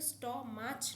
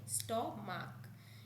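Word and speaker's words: stomach: যেমন এস টি ও এম এ সি এইচ, এটা কিন্তু স্ট মাছ নয়, স্ট মাক।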